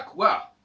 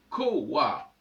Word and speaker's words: couard: ne se prononce pas couard. Ça doit se prononcer coward. Parce que le U, placé en deuxième position, ne se prononce plus comme un U ou un OU, mais se prononce comme un W.